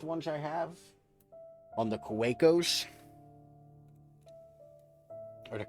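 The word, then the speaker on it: Kaweco: I have on the Kawakos. Or the Kavekos. It's German. I assume the W is supposed to be pronounced as V's.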